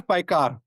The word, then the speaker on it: Paykhar: Paykhar. There you go. Paykhar.